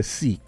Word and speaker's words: Sikh: People say Sikh, but the correct pronunciation is Sikh.